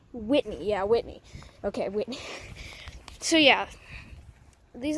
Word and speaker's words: Whitney: Wait, I always say Eli's last name wrong. Whitney? Eli Whitney, right? Whitley? Whitney, yeah, Whitney.